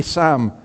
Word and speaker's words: Psalm: Like Sam with a little S, you know, and a P in there, but it's Sam.